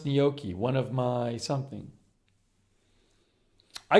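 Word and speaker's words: gnocchi: usually said dingier pillow paully says pronounce nyoki one of my something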